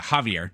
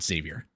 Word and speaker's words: Javier: And then the other guy, Becerra, yeah, is it Javier? Yeah, Javier, not Xavier, right? Or is it Xavier? Javier. Javier. Okay, it's spelled with an X, so I wasn't totally.